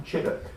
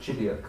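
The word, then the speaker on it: Chideock: If you go up from Chiddock, never pronounce it Chidiock when you're down there, because people laugh at you, as I discovered in the pub.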